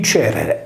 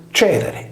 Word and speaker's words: Cerere: La divinità protettrice della cerealicoltura, Cerere, deve quindi essere il suo nome, poiché la palatale ce di Cerere si pronunciava come la velare che di Cherrere.